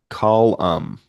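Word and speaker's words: Colm: Uh, and FYI, as an Irishman, Meanie's first name is pronounced Colam.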